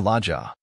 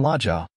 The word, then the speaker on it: Laja: I am Laja, but how did you know? In her musical tones her name was very lovely. The broad A's, the soft J, and the accent on the last syllable.